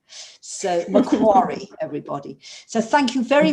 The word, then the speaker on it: Macquarie: it's macquarie because i never know how to pronounce it helen now i know it's macquarie and not macquarie so macquarie everybody so thank you very much indeed um